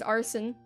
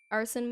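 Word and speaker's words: Arsene: the other guy is his name is arson a r s e n e not like arson like burning buildings down it sounds like it but it's spelled different I promise Um he's not related to him in any way.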